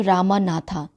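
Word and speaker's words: Ramanath: नाथा है कि नहीं लेकिन हम इसको प्रोनाउंस कैसे करेंगे रामनाथ जैसे इंग्लिश में जैसे भगवान राम को भी हम रामा लिखते हैं ना तो ऐसे ही इंग्लिश में ए लग जाता है ठीक है अगर आप लिखते हो तो आपको ए लगाना पड़ेगा अगर आपने ए नहीं लिखा तो आपका स्पेलिंग एरर हो जाएगा यहां पे लेकिन प्रोनाउंस हम इसको कैसे करेंगे रामनाथ बोलके प्रोनाउंस करेंगे ठीक है तो स्टार्ट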